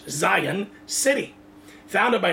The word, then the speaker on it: Zion: to where Chicago to a city called Zeon or they're pronounced in English Zion city founded by name